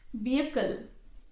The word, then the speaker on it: vehicle: not honor exhaust exhaust vehicle vehicle not vehicle vehicle re receip not receip be